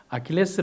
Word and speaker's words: 아킬레스: 아킬레스 라고 하는 아들입니다 원래는 아킬레우스의 라고 하는데 아킬레스 라는 이름은 에 2 그리스 시기에 라틴어 발음 입니다 네티스 는 간단하게 어떤